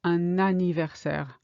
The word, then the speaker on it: un anniversaire: Un anniversaire. On a. So it sounds like the word anniversaire starts with an N, but it doesn't. It's a bit like an apple in English.